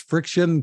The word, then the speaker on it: FriXion: for good challenge involving uh I guess it's pronounced friction color sticks erasable pens from Pilot tell us